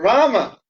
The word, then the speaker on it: Rama: It's Ram or Rama. But the Ramo, I don't know who that is.